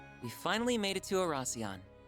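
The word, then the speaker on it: Oración: Arasion, the former capital. We finally made it to Arasion.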